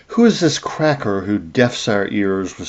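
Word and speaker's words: craic: But it actually comes from the Irish word crack uh spelled like crack. C r a i c.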